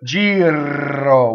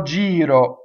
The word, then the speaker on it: giro: that d rolled right G ro would be incorrect in this word right it's not rolled its flipped so you have to say guardo yo Giro water dough yo Giro this ve o has